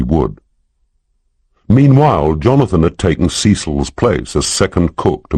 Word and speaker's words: Ceil: Melanie Rose taught Bible school and had twin daughters by someone called Ceil, pronounced Cecil, who 3 months ago had taken a return ticket to Eluther, and thus far had not used the second half.